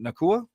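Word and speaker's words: Nacua: the Rams though uh I hope I'm pronouncing it nakua the wide receiver 64 yard 64 receptions 827 yards yeah PUK PUK you said it right Co there you go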